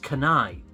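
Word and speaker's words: Kunai: So that game, I believe, is pronounced Kanai.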